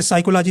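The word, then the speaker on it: psychology: आ रहा है ना वैसे साइकोलॉजी में पी नहीं आ रहा है नॉलेज में के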